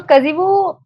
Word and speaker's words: Kazhivu: But there's also another organization, a company lurking in there somewhere called Kazivu. That's Kazivu. Kazivu. Now, what does that mean? So Kazivu is a word inspired from the language Malayalam, which is my mother tongue.